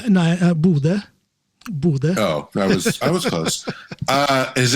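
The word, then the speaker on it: Bodø: Is it pronounced Bodo? No, Bude.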